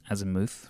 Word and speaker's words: azimuth: The azimuth rhymes with vermouth.